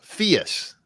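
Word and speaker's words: Phius: say Fiat like the car no no no Fierce it's spelled p-h-i-u-s it used to be oh okay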